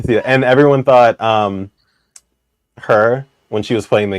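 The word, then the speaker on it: H.E.R.: who and no it's her but that's actually how you pronounce their name right is her it's not like h e r yeah I know I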